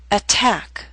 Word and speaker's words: attack: Attack is a word with two syllables. Stress is on the second attack. So t although in the middle of the word is at the beginning of a stressed syllable. So we have a true t attack.